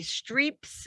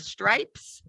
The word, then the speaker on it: stripes: bit more with transfer all of my students say strips instead of stripes so i had margarita